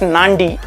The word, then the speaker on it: Nadi: only one which is called Nadi or it's pronounced as Nandi na di it's a beautiful small airport you